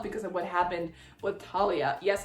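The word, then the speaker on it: Thalia: of what happened with Talia. Yes, I'm sticking with the T pronunciation for Talia.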